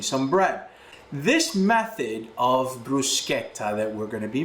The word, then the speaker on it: bruschetta: Bruschetta, the correct way to say it is bruschetta. If you're saying bruschetta, you're not saying it properly.